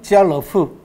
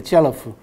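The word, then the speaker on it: 家乐福: 발음은 지알러프. 그렇게 됩니다. 지알러프. 그러니까 까르프하고 비슷하죠. 그죠?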